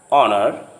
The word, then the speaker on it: honor: In some words, the H sound at the beginning often is not pronounced. For example, honor, hour, honest. When the H sound comes